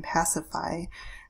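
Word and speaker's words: Pasiphaë: is going to be pacified so that's how you say her name pacify she is Phaedra's mother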